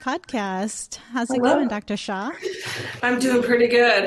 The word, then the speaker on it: Hsia: just go by but shaw is pronounced the s-h-a-w as you can see the spelling is a little confusing but it's pronounced sha sha cool and um what